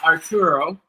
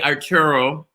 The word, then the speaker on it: Artur: All right, so I want to bring in Dan and Arturo. And I say Arturo, and it's really it's Arturo. How do you say your name? It's Artur. Artur. Like think Arthur without the H.